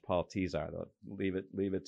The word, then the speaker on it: Tesar: telling the whole world I was calling him Paul tazar and he just let me he just let